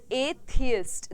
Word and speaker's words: atheist: Alright, एथियस्ट, that is हाउ we pronounce it.